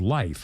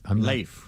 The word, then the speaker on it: Leif: But I think it's actually pronounced Life. I may not. Leif. It is Leif? I heard Leif. We started with Leaf, and then I think it is Leif. I think the correct pronunciation of that part of the world then was Leif, but it's Leif, just for the record, Erickson.